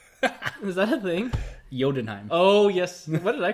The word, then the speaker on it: Jotunheim: You know, you say it like Thor, Odin's son, announcing his return from Godenheim. Is that a thing? Jotunheim.